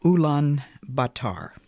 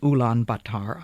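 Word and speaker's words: Ulaanbaatar: afternoon, we were met at the station of Oolan Batar. I must confess that until I received my invitation to speak in Ulan Batar, I had never heard of it.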